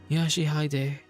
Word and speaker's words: Yoshihide: 아니라 That's not how you read those letters. 요시대라고 읽는 거다. Yoshihide. That's how you say it.